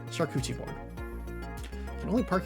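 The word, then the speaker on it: charcuterie: Shuchi board. It's Shakuchi board. It's obviously Shakuchi board.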